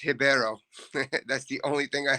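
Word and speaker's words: Ribeiro: it's the uh Claudio ribio versus the Abdel razika Hassan do you guys have a lien on that fight at all only that it's pronounced hibero that's the only thing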